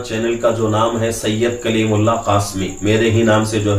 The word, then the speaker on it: سید کلیم اللہ قاسمی: ہیں۔ اور ہمارا چینل کا جو نام ہے سید کلیم اللہ قاسمی، میرے ہی نام سے جو ہے چینل جو ہے چل رہا ہے۔ اسپیلنگ جو ہے SAYYAD سید، اس کے بعد